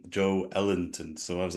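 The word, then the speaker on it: Joelinton: vicory oh yeah yeah he said that the pronunciation was Joe Joe Ellenton so I was like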